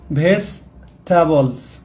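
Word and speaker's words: vegetables: এখানে উচ্চারণের ক্ষেত্রে কিন্তু পরের ইটা উচ্চারিত হবে না, এটা হবে ভেজিটেবলস। ভেজিটেবলস মানে কি?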